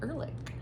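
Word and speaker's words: Erlick: The Poppy Fields by Nikki Erlich.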